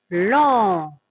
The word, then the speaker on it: lent: L avec en, lent. T aussi, ça se prononce pas.